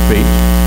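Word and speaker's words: Feucht: a Remnant that Sean I think they pronounce his name fate he's going around the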